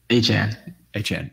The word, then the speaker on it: Achane: They have a significantly negative EPA per play on runs, which is surprising given Achane, and I want to pronounce his name, but it's Achane, right? Achane.